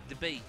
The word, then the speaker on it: Dubai: but the most but in Arabic duban if you will say Dubai or they the way they pronounce is they say debate debate just like somebody debates like a debate yeah it's like having